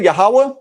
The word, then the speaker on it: Yahweh: Now, with that said, if you want to say Yahweh, that's fine. Just know that that's not the biblical pronunciation. That's a later development.